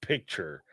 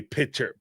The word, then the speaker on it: picture: Y'all gonna learn how to say the word picture. So help me God. Yeah, they say pitcher.